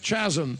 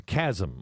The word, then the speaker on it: chasm: Admittedly, there's a chasm in America, or as John Kerry would say, we shouted out across that chasm. That chasm. It's a chasm. Or there's even a chasm about how to use the word or pronounce the word chasm.